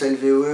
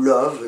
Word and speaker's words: LVOE: Nous recevons aujourd'hui le groupe LVOE, qu'on prononce LVOE ou Love, c'est comme on veut.